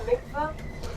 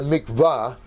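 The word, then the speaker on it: mikveh: We did not have a You call it a mikvah. But if you take a look at the Hebrew under the vow, they've got the three dots which in Hebrew is pronounced e.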